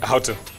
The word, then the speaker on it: Houghton: Houghton.